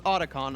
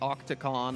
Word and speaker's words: Otacon: It's Otacon. I probably said Octacon or whatever, something amongst those lines.